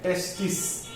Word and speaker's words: testis: Okay, testis plural है, singular है, testis. Okay, testi भी बोलते हैं उसको, testi. बट स्पेलिंग में एस होता है लास्ट, एस साइलेंट है.